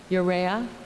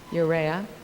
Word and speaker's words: Urrea: with the author and I'm going to get this name wrong so someone shouted out Luis Alberto yuria am I saying that right Urrea thank you you'rea some of you may